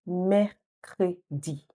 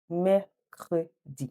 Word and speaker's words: Mercredi: Now, this one's a bit tricky, like 3 syllables, but don't worry, just répétez après moi. Repeat after me. Mercredi. Mercredi.